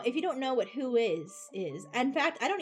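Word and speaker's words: WHOIS: I think that's why I think it is pronounced who is because that's kind of the Yes.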